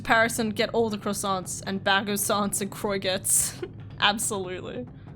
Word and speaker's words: croissant: how you don't, like, when you say croissant, you know, like croissant, you're supposed to say croissant. Like, you don't pronounce the T and stuff like that.